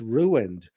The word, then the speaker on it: ruined: I didn't know ru i n was two syllables. You ruined it. And I was saying ruined and they were laughing. It's ruined.